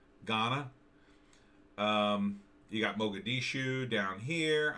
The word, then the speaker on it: Ghana: they got gahanna empire is that how you pronounce that gahanna ghana you got mogadishu down here i mean all